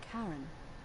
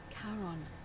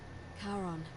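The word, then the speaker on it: Charon: It's just as you described it, only your pronunciation is a little off. The name you heard wasn't Karen. It was C H A R O N. As in Karon, the fairerryyman of the dead. Karon, who in exchange for the right coin, helps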